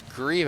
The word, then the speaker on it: Greaves: Now, I just realized looking at the stat sheet his actual name is Greaves. So I've been saying his name wrong all night. So that's on me. So it's Greaves at the line.